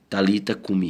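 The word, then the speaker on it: Talitha kum: seus familiares e discípulos a expressão transliterada Thalita kum pronuncia-se Talita kume O que significa literalmente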